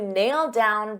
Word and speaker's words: nailed down: So because I have a D sound on down and these two go together, I'll pronounce it as one and you'll only hear one D sound, nailed down, nailed down.